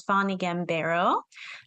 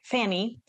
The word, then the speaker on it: Fanni Gambero: podcast my name is Fon gambo that's how I pronounce it I'm fun fact about me I'm originally from Hungary that's why I don't pronounce my name like Fanny a lot of people